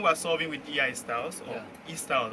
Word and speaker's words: Eistyles: Eistyles, what do you do? Okay, what the problem we're solving with Eistyles, or Eistyles actually, that's how it's pronounced, So the I is silent.